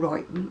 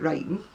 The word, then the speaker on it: Royton: I come from a place called Royton in Oldham, where they actually would pronounce it Rayton and Oldham.